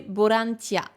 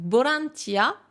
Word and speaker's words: ボランティア: pas et chez eux ils vont le transformer en fait dans leur bouche en son B donc V et beau c'est la même chose donc pour eux c'est plus facile de prononcer borantia donc borantia ouais vous